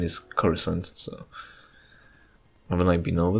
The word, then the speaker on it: Coruscant: spelled Coruscant and for some reason the Canon pronunciation is corazon so when I beam over this it's suspected